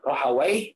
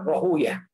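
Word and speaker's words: Rahwayh: atau Ishak Bin rohaw bisa dibaca dua ya eh rohawai atau rohuyah kebanyakan Ahlul hadis membacanya dengan rohuyah ya karena kalau dibaca w rohawai w ini eh menurut sebagian mereka adalah nama nama setan atau nama iblis seingga mereka ee menjauhi penyebutan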